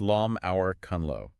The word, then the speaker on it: លំហូរគន្លឹ: It's called sah which is pronounced lom hour kunllo and it's chimera for key flow.